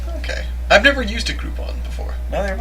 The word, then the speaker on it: Groupon: I've never used a Groupon before. Neither have I, but I imagine they're pretty cool. Yeah. I can see that being alright. Yeah. I mean, it's a coupon, so It rhymes with group.